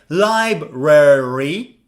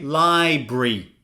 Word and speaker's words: library: For example, how do you read this? Well, you could say library. You could also say library.